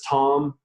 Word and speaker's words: Thom: just go to Tom calm my last name is spelled th om so Tom